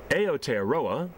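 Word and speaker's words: Aotearoa: is land of the long white cloud so aot aroa which is how it's pronounced in Maly aooa land of the long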